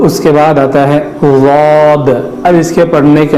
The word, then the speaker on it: ضاد: اس لیے کہ ضاد کا جو تلفظ ہے وہ زبان کا اندرونی اور کنارے کا حصہ اوپر کے دانتوں کی جڑ کو لگانا ہے, تو یہ جڑ کو